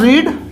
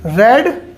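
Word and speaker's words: read: ये होता है रीड, रेड, रेड। ये इसको रीड पढ़ते हैं, बाकी दोनों को रेड पढ़ते हैं।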